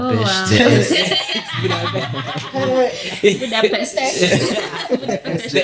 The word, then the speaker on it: Budapest: Well, that's how you pronounce it. Yeah, it's Budapest. Oh, wow. Budapest.